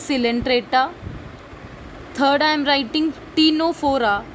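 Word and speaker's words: Ctenophora: First is Porifera, second is Coelenterata, third I am writing टीनोफोरा, टीनोफोरा का सी silent है.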